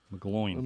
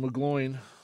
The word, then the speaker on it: McGloin: controversy this week about McGlone McGloin McGloin I was thinking the reactor rhymes with mcgroin the thing of the